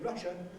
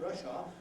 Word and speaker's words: Russia: of Soviet Socialist Republics, then don't make the final A of that R, because you will be pronouncing a word that, say Russia, not Russia, because Russia is our